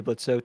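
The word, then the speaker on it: Blitzø: He's Blitzo, or Blitz. Oh, is silent.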